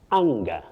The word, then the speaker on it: anger: Well, Betty, the A in that word takes what we call the short low front sound ah. Ah, not eh. You say anger.